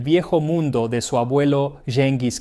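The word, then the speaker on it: Gengis: mundo de su abuelo Jengis Kh o Hengis Khan, que en realidad es la pronunciación más apropiada.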